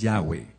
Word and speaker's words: Yahweh: Su nombre es Yahweh. Yahweeh. Yod. Hey B hey no se pronuncia como y sino como ya.